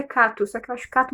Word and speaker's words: Cato: Eu sempre pronuncio como Keiro, mas me dizem que o nome dele é Cato.